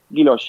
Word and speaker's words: guilloche: Yeah, guilloche.